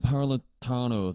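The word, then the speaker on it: Napolitano: Janet Naratano, that's how her name is pronounced.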